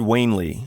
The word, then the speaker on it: Wanley: uh that was professor Richard wanley I think that's how you pronounce it played by Edward G